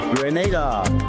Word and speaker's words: Grenada: So today, like we Germans say, we are in Grenada. But I heard in English it's called Grenada. Say it right. Grenada. Say it right. Grenada. That's right.